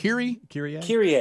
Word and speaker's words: Kyrie: Kyrie.